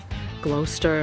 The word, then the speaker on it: Gloucester: towns I always laughed at Jed how we pronounce the Massachusetts towns glester and all that it's actually Gloucester but this